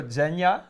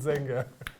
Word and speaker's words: Zenga: did better uh zenya Zenga Z I wish it was Zen unfortunately it's a humbl Zenga please follow this gentleman